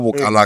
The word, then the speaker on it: Bukalanga: Why can't I go Bukalanga? Go Bukalanga. Bukalanga. I have to say, like, pronounce it right.